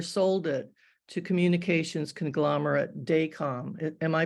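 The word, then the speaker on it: Dacom: Professionally, he started a cable TV company in Seoul, South Korea, and later sold it to communications conglomerate Daycom. Am I pronouncing that right, Pete?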